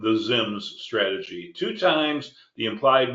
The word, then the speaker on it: ZIMS: x i Ms well X as in xylophone is pronounced as a z xylophone therefore I would say zims and that's how I came up with the name the zims strategy two times the